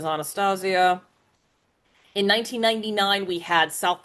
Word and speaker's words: Anastasia: Uh the year before there was 20th Century Fox gave us uh Don Bluth Anastasia proper pronunciation is Anastasia.